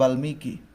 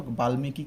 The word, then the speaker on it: বাল্মীকি: ওকে, বাল্মীকি উচ্চারণ কেমন হবে তাহলে? বয়াকার বা ল, বাল, হসন্ত দিতে হবে, এরপর হচ্ছে মিকি, দীর্ঘিকার থাকার পর আমার ঋষিকার দিতে হবে সূত্র অনুসারে, বাল্মীকি।